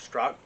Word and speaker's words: Strzok: me brandon strzok um it's spelled strzok but i think he called it struck anyway uh he has